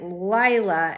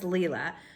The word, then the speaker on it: Lila: I think that I was pronouncing it Lila, and then at some point she corrected somebody, and I think it's pronounced Leela because I listened to it on audio.